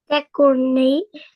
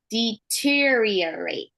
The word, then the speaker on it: deteriorate: Decorate. So it's pronounced deteriorate.